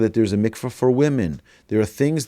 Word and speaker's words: mikvah: The common pronunciation is Mikva, but it's MCV as well.